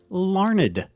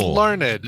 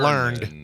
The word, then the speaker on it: Larned: And it is pronounced Larned, Kansas. It is Larned. Okay, so not learned.